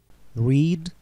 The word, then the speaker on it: read: Read. Read, read. She is reading a book. Она читает книгу. А здесь обратите внимание, пишется одинаково все три формы read, но читается по-разному.